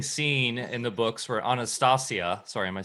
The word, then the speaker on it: Anastasia: Yeah, there's an interesting scene in the books where Anastasia, sorry, am I saying it right?